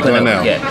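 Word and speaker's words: Glenelg: here this morning, I've never been, do they pronounce it Glenel? Yeah, Glenel.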